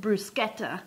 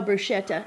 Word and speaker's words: bruschetta: some vegetables um and in Italian they actually pronounce it brusketa brusketa didn't it but here in Oklahoma people would probably say what and we know brushetta and it actually means